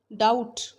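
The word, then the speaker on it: doubt: डाउट, B silent है।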